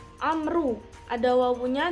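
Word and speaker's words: عمرو: Hai di sini dibacanya Amru ada Wow punya jadi bacanya Amru Kalau tidak ada wownya Hai bacanya Umar istri itu memang Alif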